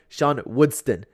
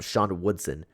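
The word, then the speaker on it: Sean Woodson: lot of criticism because I kept saying Shan woodston I don't know why I keep doing that apologies if I continue to do that I'm working on my pronunciation better don't know why I'm pronouncing this name wrong out of all of them there's some normov names that I can pronounce correctly there's some dastany names that I can pronounce correctly but for some reason I'm messing up sha Woodson regardless let's talk about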